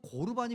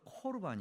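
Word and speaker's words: קרבן: 안 내놓다 거예요 그럼 고르반이 뭐냐는 거죠 고르반이 골반은 들어봤어도 고르반 뭐 들어 고르반 뭐예 고르반 고르반이라고 하는 것은 원래 발음은 코르반 있데에 이게 어 어디에 있냐면요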